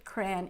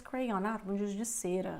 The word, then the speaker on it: crayon: kids you're like oh I know what cran is cran is the same as cray okay so that's what I mean when you when I when I talk about improving your listening skills you know uh even getting to know other ways to pronounce the same word like now like I